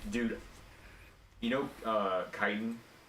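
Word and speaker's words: chitin: mad at me um one second um I pronounced it chitten for two years straight and nobody ever corrected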